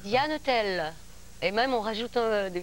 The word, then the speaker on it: Diane Tell: Au Pays Basque, à ton Pays Basque, ça va être souvent, longtemps, énormément, parce qu'on prononce toutes les consonnes. Donc, c'est Diane Tell.